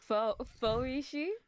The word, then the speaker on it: Fauxrishi: Fauxrishi? Is that how you pronounce it? You say it. I Fauxrishi, yeah.